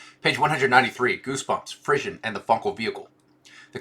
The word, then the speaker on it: frisson: Positions musical resonance, goosebumps, frisson, intoxication as direct evidence of Funkel alignment. And is it frisson? Am I pronouncing that right? A frisson? Pronunciation. Frisson. Frisson. Not frisson, because that would have an I.